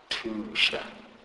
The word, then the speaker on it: tusha: TH is pronounced as T. T. And these letters are pronounced like the T in the English word take. For example, tusha, tusha, which means help.